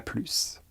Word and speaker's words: plus: Prononcez le S. Elle en a plus.